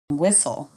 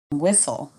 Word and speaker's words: whistle: Silent T. Listen, castle, whistle. Repeat after me. Listen, castle, whistle.